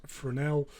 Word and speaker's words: Fresnel: You spell it as a Fresnel, but it's a French word, so you pronounce it as Fresnel.